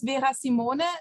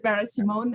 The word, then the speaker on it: Vera Simone: yes, it's well, the German version is Vera Simone, but actually, you know, since I'm usually in the international context, everyone pronounces it Vera Simone, and that's absolutely fine.